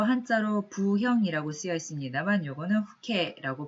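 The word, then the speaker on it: 父兄: 다음으로 한자로 부형이라고 쓰여 있습니다만 요거는 후케라고 발음을 하고요.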